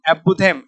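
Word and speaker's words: apothegm: एक होता है एपोथेम एपोथेम एपोथे इसमें जी को थोड़ा साइलेंट कर लेना एपोथेम एक होता है डिक्टम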